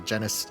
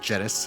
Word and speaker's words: Genus: Yeah, Joshua and I helped out with the Genus School Festival, which I learned it is pronounced Genus, it is not pronounced genus.